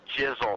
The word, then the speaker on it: Jizzle: I want you to call me be Jizzle and also it rhymes with like drizzle and snizzle so all well obviously welcome